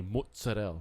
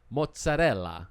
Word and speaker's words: mozzarella: And I go, honest, they don't say mozzarella. They say mozzarella. That's how they say it in Italy.